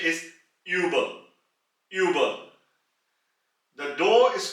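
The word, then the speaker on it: über: with the um loud it is the right pronunciation is uba Uber the door is called as tu tu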